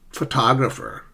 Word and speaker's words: photographer: Compare that with photographer. Photographer. Communication.